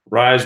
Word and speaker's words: Rise: first and last initial RR rise rhymes with lies but Rebecca rise 74